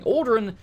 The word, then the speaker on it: Ald'ruhn: Dranoth wants you to know that our Ald'ruhn, pronounce it correctly, Ald'ruhn is your home.